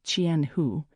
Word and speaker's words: Chianhu: Kenny's ornamental fish company, Chianhu Corporation Limited, pronounced Chienho, Chinese for a thousand lakes, was located off a winding road.